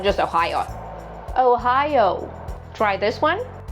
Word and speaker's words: Ohio: Ohio. Two diff thongs. Oh. Oh. Ohio. Ohio. Don't try to speed up your speech on deep thongs. Relax and enjoy them. Once again, Ohio. Not just Ohio.